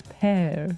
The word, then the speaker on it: pear: I think it's pear. Yeah, it's pronounced exactly the same as pair of socks.